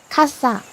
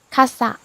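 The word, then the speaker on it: kassa: one word, the cashier counter or something, it's kasa. It's very cool because in in in Japanese that means umbrella, kasa. Kasa, kasa. Yeah, slightly different. Very similar, but slightly different. Kasa.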